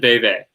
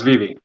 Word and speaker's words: VeVe: He's also a senior operations consultant at Koii, the creators of Vivi. I believe that's how you say it, or is it Veve? No, it's Vivi. Vivi, good.